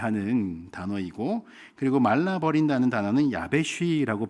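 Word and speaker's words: יָבֵשׁ: 수치를 당한다는 단어는 에보슈라고 발음을 하는 단어이고 그리고 말라버린다는 단어는 야베쉬라고 발음하고 있습니다.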